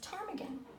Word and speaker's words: ptarmigan: And we usually don't see a P-T consonant blend, but that P is silent. So it's almost as it just says ptarmigan here.